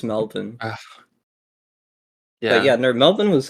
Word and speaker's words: Melbourne: in here yeah how's Melborn how's Melborn Phoebe what how's Melbourne oh Melvin I I couldn't tell because you Americans say Melborne When It's Melvin yeah yeah no Melvin